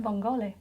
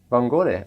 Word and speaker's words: vongole: so obviously from what we've learnt, the E is tended to be pronounced at the end. Vongole? Perfect. Is that actually Vongole? Vongole. Vongole.